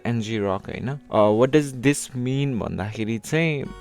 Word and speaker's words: ngrok: is itself NG Rock I don't know how you pronounce Ang rock or NG Rock I do pronounce as NG Rock what does this mean